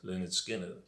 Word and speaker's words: Lynyrd Skynyrd: so then there we have it leonard skynyrd pronounced leonard skinner i would urge anybody who wants to get